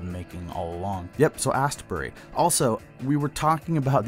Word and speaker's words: Astbury: him okay moving on I realize I've been adding a stupid syllable to the singer of the Colts name mark is absolutely correct at Ian Astbury for some reason I've been calling him Ian Astbury I don't know why